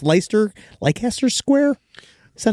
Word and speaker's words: Leicester: premiere he did in Leicester, I think it's Leicester Square. Is that how you pronounce Leicester?